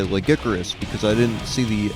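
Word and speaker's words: Lagiacrus: Monster Hunter Wilds put Lagiacuras into the game. How do you want to pronounce it? I know in the game they say Lagiacuras, which sounds absolutely lame.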